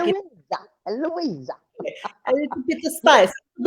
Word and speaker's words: Luisa: they say my name, the Hispanic way to say it properly is Luisa, Luisa. And I get there in Portugal, and they're going Luisa with a Z, and I'm like, when